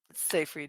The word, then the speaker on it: Seyfried: kevin bacon and amanda how do you say her last name uh safe read seyfried yeah yes yep so good excellent thank